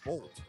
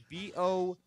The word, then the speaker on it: Boldt: Benjamin Giza Affleck hyphen Bolt. Bolt. Oh, he's related to Usain Bolt. But hold on. The last it's spelled BOLDT. Bolt? Uh-huh. Bold? Whatever.